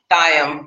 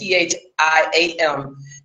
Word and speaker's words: Thiam: This guy, last name Diem, I might be saying it wrong though, it's Thiam.